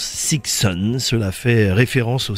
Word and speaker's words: Sixun: Le nom du groupe est composé de six, de 6 donc, et de 1 et se prononce Sixon.